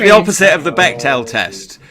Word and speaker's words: Bechdel: Yeah, it's like the opposite of the Bechdel test.